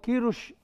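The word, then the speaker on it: Queiroz: ايوه ما هو والله بيلعبنا، يعني يعني يعني هو كيروش، هو صلح لي النطق ظهر اسمه كيروش بقى.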